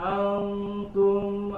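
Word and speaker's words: أنتم: Wala antum abiduna ma a'bud. Sekali lagi. Antum tipis dan ditahan.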